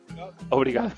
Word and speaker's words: obrigado: ¿Cómo es? ¿Brigado o obrigado? ¿Cómo se dice? ¿Brigado o obrigado? Obrigado.